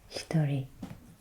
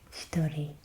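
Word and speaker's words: 一人: So the first example that we had on the last page meant one person, and it is pronounced hitori, hitori.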